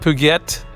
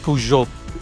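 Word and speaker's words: Peugeot: pujo, but the word it's not puget. It's not puette, it's pujo. Uh, and again the the reason why uh I know that is because I had a pujo, but I had a pujo uh bicycle which are still very very famous.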